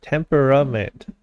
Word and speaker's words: temperament: did you spell it temperament temper a okay it looked wrong we just have a a non- pronounced a in it this is definitely how